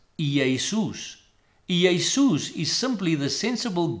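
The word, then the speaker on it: Ἰησοῦς: in his mother tongue would do so as Iisus.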